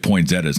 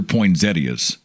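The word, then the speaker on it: poinsettia: now I don't know do you say poin zettas or poin Zetas uh old radio co-host of mine used to insist that they were poin Zetas I don't know I'm from Oklahoma they're poin Zetas there's an old Mexican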